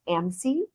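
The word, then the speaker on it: AMSE: And in the military, we love acronyms, so it's actually pronounced AMC.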